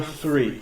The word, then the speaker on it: three: TH is pronounced like, if you put your tongue out, stick your tongue out just a little bit and say 3, number 3, all right?